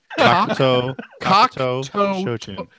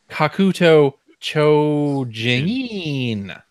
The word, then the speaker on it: Kakuto Chojin: Kokto Chojin. Toe Jam? Yes. Kokto Toe Jam? Is that Earl's out of town, so we got to get Kokto to Hold on. I'll pronounce it in American. Kakuto Chojin.